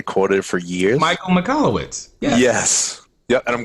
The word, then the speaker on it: Michalowicz: Michael Michalowicz. Yeah. Yes. Yep. And I'm glad you pronounced that correctly, because I would have butchered that name.